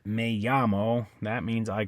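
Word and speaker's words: llamo: Aya okay uh so a I mean she yamo it also has Double L that means I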